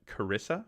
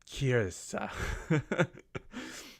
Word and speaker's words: Kirsa: Whereas over here, Camus Kirsa, I've been pronouncing it Carissa for the longest time, and it's not that. There's no I snuck in there between the R and the 2 S's, so it's really like a Kirsa, which cool.